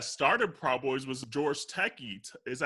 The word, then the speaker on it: Takei: And honestly, and the sad thing too, the person that started Proud Boys was George Takei.